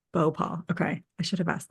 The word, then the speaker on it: Bhopal: It's Bhopal. Bow paw.